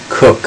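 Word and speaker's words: Coke: It's actually not directly from a case, but Sir Edward Kerr. Cook, I think it's pronounced, wrote his institutes based on case law and statute law at the time.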